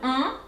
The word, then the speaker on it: Ombre: O-M, ombre. The R comes from deep down, from the throat. Ombre, ombre.